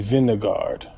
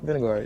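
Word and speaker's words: Vingegaard: And Vinegard. Uh-huh. What about Tad Pagotcha? Jonas Vingard. You said it right the first time. Vinegard. Vinegard.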